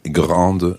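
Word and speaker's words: grande: now the S is silent but the fact that the E is there means that you sound the D le grand Meson okay I'll find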